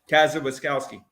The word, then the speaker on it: Kosciuszko: And I'm Cassie Rolone for Kazawiskowski. Nailed it. Cassie Rowland for Wayne Township Board. She also gave which is in Kazawiskowski. Yeah. She gave me a compliment. Yes, perfect pronunciation for Kosciuszko. Kosciuszko.